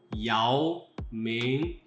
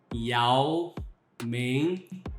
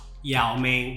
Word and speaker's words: Yao Ming: But if you want to pronounce properly, it's Yao Ming. Yao Ming, not Yao Ming, which actually means terrible in Chinese Mandarin. It's Yao Ming, second tune.